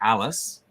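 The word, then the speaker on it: Allis: he left his daughter Alice spelled a-l-l-i-s um which is how you pronounce it how you'd spell it if you were just trying to do it phonetically right um left her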